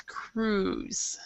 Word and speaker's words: cruise: this word um Nadia we actually do not pronounce the I so it's Cruz could be V Voyage